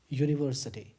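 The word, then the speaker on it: university: यूनिवर्सिटी, तो यूनिवर्सिटी में यू पहला साउंड है, और यू को भी अगर हम तोड़ें तो सबसे पहले में मिलता है य और दूसरा मिलता है ऊ। यानी कि ये वाली मात्रा। तो यह हमारा व्यंजन वर्ण है, तो व्यंजन की ध्वनि आ रही है यहाँ पर, इसलिए क्या लगाएंगे, अ यूनिवर्सिटी।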